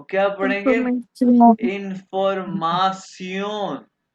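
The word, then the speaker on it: Information: इसको प्रोनाउंस करेंगे सियोन। कैसे? सियोन। तो क्या पढ़ेंगे? इंफॉर्मेशन, इंफॉर्मासियोन।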